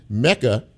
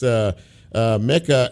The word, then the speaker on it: Meka: know, if I say the name Meka, like Jamaica, you know who I'm speaking of, Egwuekwe.